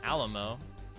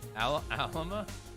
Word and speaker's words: Alma: masculine form as well Alamo Alama al mama what man said Alamo asked Google I do it I just look goo --gel doesn't have a pronunciation for it I looked Alma Alma oh okay Alma gotcha Alma that's how you're saying your name Alma I had no idea